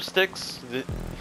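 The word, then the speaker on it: Styx: No, like River Sticks. Yeah. It's the S T Y S. Yeah. Yep. Yep. Same pronunciation.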